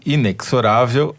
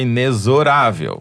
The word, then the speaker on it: inexorável: No programa passado, a Yara Arruda nos ensinou, ou melhor, me ensinou, que inexorável é na casa da mãe Joana, que o certo é inexorável.